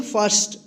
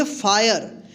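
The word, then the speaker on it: fire: फर्स्ट।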